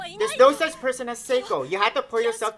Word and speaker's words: Seiko: It's Seiko, not Seiko.